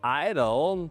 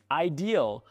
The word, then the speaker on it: ideal: You pronounce the word idol the way we actually pronounce the word idol. I've heard this in several of your videos and thought the correct meaning is generally understood. It would be better if you could pronounce it properly. Ideal. Ideal. Ah, it's ideal.